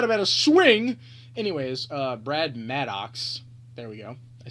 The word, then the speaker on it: Brad Maddox: you know um next up we got a brad MedEx I don't even know swing bad about a swing bet about a swing anyways uh Brad Maddox there we go I said it right this